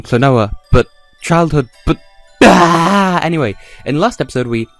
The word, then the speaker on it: Klonoa: to pronounce it because my childhood is saying cloner and the game is saying cloa but childhood but anyway